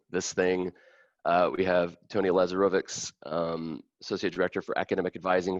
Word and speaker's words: Lazarovics: We have Tony Lazarovics, Associate Director for Academic Advising for College of Arts and Sciences.